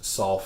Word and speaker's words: Saul: king of Israel and Saul is also the Apostle Paul so I know that in Spanish it's all and solo but in English it's solve for both and also two additional